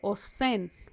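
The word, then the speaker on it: אוזן: Pero quiero que nos detengamos aquí porque queremos que vean que oreja, oído, en hebreo se escribe osen.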